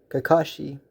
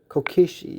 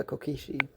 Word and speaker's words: Kokichi: let's start off with deku or kakashi i'm not one person i'm getting this name wrong kokishi yeah kokishi sorry i'll have to um